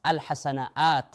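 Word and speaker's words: الحسنات: On trouve l'alif sous forme de dague mais on la prononce alhasanaat dans tout le Coran alors que assayiat garde la écrite.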